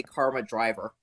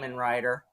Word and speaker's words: Kamen Rider: and whenever somebody would whenever somebody would say Kamen Rider wrong, they'd always say Karma Driver. Or, if you like people in Scotland, they say Cayman Rider.